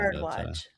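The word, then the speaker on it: Bharadwaj: But uh Pin Lee played by Sabrina Woo and then uh I forget the how to pronounce the even full name of that one. Bardatch.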